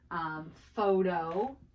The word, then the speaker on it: photo: So when you put a P and an H together, it makes an F sound, okay?